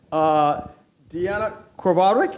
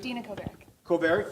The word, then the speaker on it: Dina Kovarik: Deanna Kovarik, am I pronouncing that correct? Dina Kovarik. Dina Kovarik, who's sitting in the middle there, is going to be moderating the discussion.